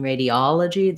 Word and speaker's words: radiology: letter o does change radiology that's because in this case in radio it's not stressed and radiology that's the stress syllable so we see again our a our e and then the o changes to an ah and then this o is going to be a schwa on stress radiala g and that letter